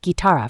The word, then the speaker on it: guitarra: The letter combination GUI is pronounced gi, for example, guitarra for guitar.